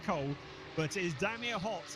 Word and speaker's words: Cool: We've got Hott and Cool, although I'm told it's pronounced Cole, but it is Damir Hott in the number 50 car, who's the first driver to set a benchmark time.